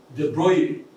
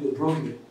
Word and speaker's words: De Broglie: wave particle paradox, whereby you say this man's De Broglie, people like to call it De Broglie, but that is De Broglie, it's a pronunciation of a name, whereby he said that